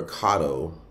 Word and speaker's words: Kato: why uh pronounced differently like this one would typically be called cato but it's kato it means um the